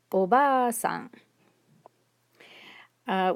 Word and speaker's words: おばあさん: For instance, this one here has a long a vowel. So it's おばあさん, which means grandmother.